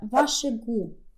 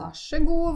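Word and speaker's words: vær så god: так як вимовляється але запам'ятайте що вимова саме це як одне слово звучить ваше гу ваше гу е стандартна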